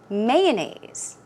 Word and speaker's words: mayonnaise: here mayonnaise mayonnaise or mayonnaise i say mayonnaise so i put stress on the first syllable you can choose either